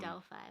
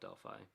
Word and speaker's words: Delphi: Yeah, I think Delphi is probably how it's supposed to be pronounced, but a lot of people call it Delphi. Kind of like the car company, Delphi.